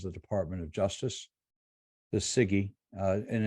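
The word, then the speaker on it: CIGIE: Department of Justice the Siggy and it's c-i-g-i-e it's pronounced Siggy but uh c-i-g-i-e uh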